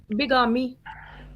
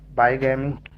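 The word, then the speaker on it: bigamy: और बिगामी, बाईगैमी, बाईगैमी, ओके। बाईगैमी हो गया, एक से ज्यादा बीवियां। करते हैं सर इसको, बाईगैमी प्रोनाउंसिएट करते हैं कि बिगामी? बाईगैमी, बाईगैमी का मतलब ये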